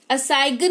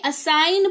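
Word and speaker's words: assign: असाइगन नहीं असाइन पढ़ते हैं यानी कि सौंपना, किसी चीज को किसी को सौंप देना।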